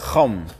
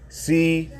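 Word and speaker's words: חָם: On the ancient biblical map, the land of Africa was known as the land of Chum, which Chum, Chaam, is how you say Ham in the Hebrew.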